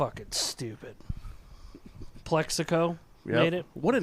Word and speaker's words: Plaxico: stupid plexico we made it what a name though like can we break that name down plexigo plexico Burris crazy and it's really should be pronounced Plaxico because of the X it should be called